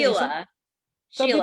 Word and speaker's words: Sheila: Sheila. Some Sheila. people I know that you'd like people, say Shayla as well, but that's okay. that it's written Sheila, but the pronunciation is Sheila, and she's from the